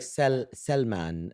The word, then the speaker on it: Salman: So it was like Salman is the right pronunciation.